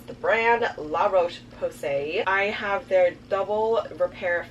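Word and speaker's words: La Roche-Posay: is my new favorite moisturizer this is the La Roche passe I also recently found out the correct way to pronounce the brand La Roche Posay I have their double repair face moisturizer thank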